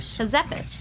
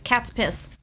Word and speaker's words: Kazepis: Kazepis. Actually, it's simpler than you think, but people always pronounce it as cat's piss, which is makes it a little difficult.